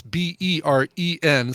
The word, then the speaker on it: Beren: This is a singer by the name of Beren Olivia, and it's Beren. So neither of those vowels in the way that you might think Beren is spelled.